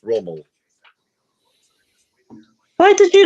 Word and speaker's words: Rommel: it when you said Rommie earlier on. That's Rommel.